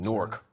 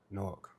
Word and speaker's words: Newark: I'm from Nook, New Jersey. Born and raised. Indeed. Norc. Norc.